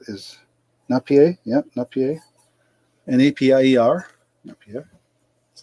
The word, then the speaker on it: Napier: Napier. That's how you pronounce it.